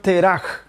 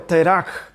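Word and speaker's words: תרח: Y Nacor engendró a Terach, así se pronuncia en hebreo, Terach, pero que en español es Taré.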